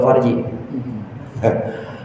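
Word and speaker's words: فرج: sama puasa farji tahu farji farji itu Fa R ro Jim bacanya pakai pakai ini pakai sukun rnya farjun tapi kalau faraj lain lagi pakai fathah kalau faraj kelapangan luas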